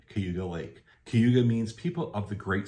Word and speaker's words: Cayuga: you see it and it looks like it should be Cayuga and a lot of people say Cayuga but if you are a local in the area it's Cayuga yeah I don't know